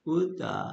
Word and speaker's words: author: author, 미국, 영국이다 이거. author, 우다, author, 우다. author, author. 아들, 아들. 발음이 다 달라요.